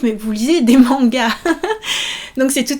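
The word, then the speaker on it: マンガ: Attention, on ne dit pas manga en deux syllabes, manga, mais 3 syllabes. Ma-nga, ma-nga.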